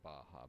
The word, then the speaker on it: Baja: that's pronounced ha because J is pronounced like an H in Spanish so that's why I was saying Baja but it's ba b